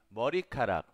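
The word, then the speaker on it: 머리카락: Así es como se escribe y así es como pronuncia. Empecemos. El cabello. El cabello. Morikarak.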